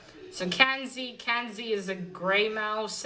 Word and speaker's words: Kenzie: in the name but it's kenzie not kansas so kenzie kenzie is a grey